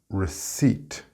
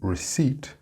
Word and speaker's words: receipt: The next word was receipt. Did you get that word? Phonetically, it is R-I-C-I-T, receipt, with the stress on the second syllable.